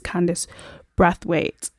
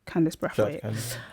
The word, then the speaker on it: Candice Brathwaite: By the way, that lady's name is Candice Brathwaite, just to say it correctly. Candice Brathwaite.